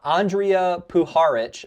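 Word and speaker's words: Puharich: Like unless somehow agree with before this uh Andrea Puharic is how you say his name by the way.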